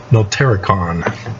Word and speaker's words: Notarikon: Then the Kabbalah, Notarikon, that's how it's pronounced.